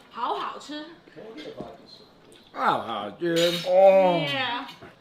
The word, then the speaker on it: 好好吃: If very delicious, you say 好好吃. Oh, dude. Oh. Yeah. 好好吃 means very delicious.